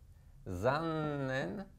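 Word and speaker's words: 残念: Zannen, et j'insiste sur le zannen. Évidemment, à ne pas prononcer aussi exagéré, mais parce qu'il y a un zan, il y a un n.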